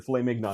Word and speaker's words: filet mignon: Yeah, you got to pronounce it correctly. The filet mignon.